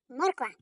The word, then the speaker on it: морква: Морква. Кличемо її. Морква. Наголошений. О.